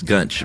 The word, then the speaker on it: Gunch: Yes, Gunch. Rhymes with lunch, she says.